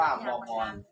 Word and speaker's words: บวร: ว แหวน แล้ว ก็ ร เรือ อ่าน ว่า บวร กับ อ่าน ว่า บวร ท่าน รวม กัน มัน